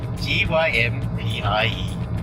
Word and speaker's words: Gympie: Apparently it's the best pies in Gympie. Beefies. Beefy's pies. Beefy's hard stomach. Because it's got gym and pie in the same word.